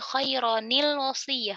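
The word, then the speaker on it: خَيْرًا الْوَصِيَّةُ: Sekarang, karena biarawati Sukun ini bertemu dengan seorang Lam, biarawati itu diberi Kasrah. Itulah mengapa pembacaan kasrah ini terjadi, karena tanwin adalah sukun. Jadi, khaironil wasi'ah.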